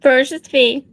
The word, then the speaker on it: Ferocious Fi: And then his lovely wife, how do you pronounce it? Say it. Ferocious Fee.